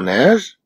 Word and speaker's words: neige: En prononçant le mot neige, on entend avec le son E qui s'écrit avec EI.